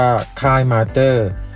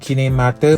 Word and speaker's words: KineMaster: คือ คลีนิ Master ครับ ซึ่ง หลาย คน หา มา ว่า สรุป ออก เสียง ยัง ไง เรียก ชื่อ ติด ครั้ง ประเทศ จริง หมาย หรือ เรียก ว่า ค่าย มาสเตอร์ สรุป ก็ คือ คือ เรื่อง ผิด ทั้ง ประเทศ นะ ครับ หรือ เกือบ ทั้ง โลก ก็ ว่า ได้ ทาง ตัว แทน Clean a Master ประเทศ ไทย บอก ว่า ออก เสียง ว่า Clean a Master ครับ ซึ่ง แอปคลีน a Master